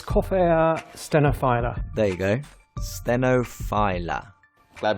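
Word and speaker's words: Coffea stenophylla: speak to the man himself how do you pronounce spin a fine little filler or stenophila it's coffeea stenophila there you go stenophila glad we got that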